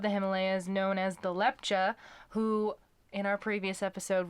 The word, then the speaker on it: Lepcha: Himalayas known as the Lepcha, who in our previous episode we incorrectly pronounced as Lepka. It is the ch sound and not the k sound. So the Lepcha people, Apologies.